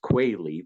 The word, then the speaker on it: Quayle: actually pronounced Quayle, but no worries.